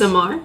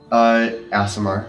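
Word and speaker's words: Aasimar: ASMR? An ASMR. ASMR? Asimar. Oh, I've been pronouncing it ASMR this I whole have- time and no one has called me it before.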